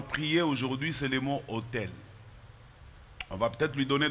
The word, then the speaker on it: autel: Les autels. Ce mot autel, il s'apparente à l'autre autel qui se prononce de la même manière, mais celui-là qui